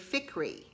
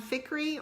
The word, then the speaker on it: Fikry: And I didn't look it up or anything, but in my head the whole time I said AJ Fikry, like rhyming with hickory, if that makes sense.